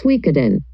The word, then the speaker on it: Suikoden: evident about the title the pronunciation in chinese as shuyujong and in japanese the pronunciation is suikeden because of these two